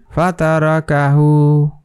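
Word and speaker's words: فَتَرَكَهُ: calf এটা হা তো এটার উচ্চারণ কিভাবে হবে ফাতারকাহু ফাতারকাহু ফাতারকাহু ঠিক আছে এভাবে এটার উচ্চারণ করতে হবে তাহলে আমরা কি শিখলাম যে যদি কোন শব্দের উপরে খারাপ জবর অথবা উল্টা পেশ যদি থাকে তাহলে ওখানে আপনার এক আলিফ টেনে পড়তে হয় আবার আরেকটা এক আলিফ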